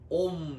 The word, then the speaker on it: Om: 옴 (Om) 은 우주의 원리인 브라흐 만 과 참자아의 개별 적 원리인 아트만 을 결합 한 문자 이며 , 발음 은 " 옴 " 입니다 .